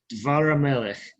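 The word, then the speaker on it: דבר המלך: Dvar hamelech. Notice that it's not davar with two kametzes. It's reduced and shortened, because the word is stressed as one word.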